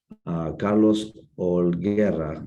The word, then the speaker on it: Holguera: Carlos Holguera, is that good pronunciation, Carlos?